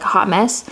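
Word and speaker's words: Haute Mess: mess or I hoped mess is spelled like Haute but it's supposed to be like hot mess I put it over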